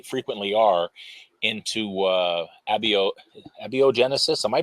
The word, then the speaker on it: abiogenesis: into because they frequently are into uh abio abiogenesis am I pronouncing that correctly yeah and uh the big